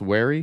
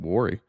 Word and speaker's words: wary: Oh, did I say worry some point? It's pronounced wary. I think I said wary, didn't I? I don't think I've ever said warry.